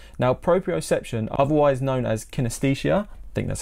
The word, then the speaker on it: kinesthesia: talk about proprioception now proprioception otherwise known as kinesthesia I think that's how you pronounce it is your body's ability to sense